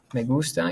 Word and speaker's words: me gusta: okay and then after me gusta you would put the thing that you like right here okay so megusta and make sure you pronounce it that way me gusta all right